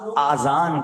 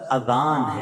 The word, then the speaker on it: اذان: نیکیاں کما سکتے ہیں۔ بعض لوگ آذان کہتے ہیں، یاد رہے پہلے اذان کہتے کس طرح ہے، اس کا تلفظ سے بچ لیں۔ آذان اذن کی جمع ہے، اذن کہتے کان کو، یہ آذان نہیں ہے، یہ لفظ اذان ہے، ٹھیک ہے۔ اور اذان